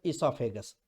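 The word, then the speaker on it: oesophagus: ओ वरून चालू होते पण ई वरून म्हणायचं इसॉफेगस. लक्षात ठेवायचं. पहिला आपण बोललो माउथ, दुसरं बोललो फायरेक्स किंवा थ्रोट आपण ज्याला म्हणतो, तिसरं इसॉफेगस.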